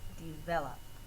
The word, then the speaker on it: develop: the stress syllable and in number four V the second syllable is the stressed one your doubling rule a